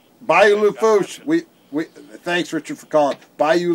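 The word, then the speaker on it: Bayou Lafourche: Well, it's not Bayou La Fourche, it's Bayou La Fouche. Oh, you don't pronounce the R.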